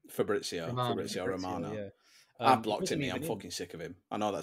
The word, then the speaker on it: Fabrizio: out and it wasn't even what is it fabrio how you say his name Fabrizio FAO Romano I blocked I'm